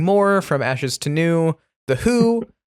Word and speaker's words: Hu: Uh, nothing more from Ashes to New Who. Not the um the one you're thinking of, but a Mongolian band that still rocks but is spelled HU instead of W.